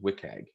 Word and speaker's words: WCAG: web content accessibility guidelines wcag or sometimes pronounced wiag there are three levels